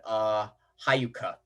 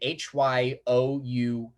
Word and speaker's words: Hyouka: Then after K-On!, I watched this one that's really been on my mind for a long time called Hayuka. Hayuka. You pronounce it Hyouka.